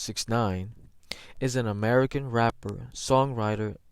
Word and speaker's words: 6ix9ine: 1996 known professionally as takashi 69 or just69 pronounced 69 is an american rapper songwriter and convicted felon